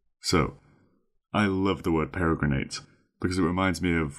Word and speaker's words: peregrinate: And our final word for today is peregrinate. Peregrinate. That's spelled P-E-R-E, para, G-R-I-N-A-T-E, grinate, peregrinate.